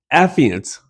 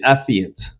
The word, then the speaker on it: affiant: Can barely pronounce it. Affiant, affiant.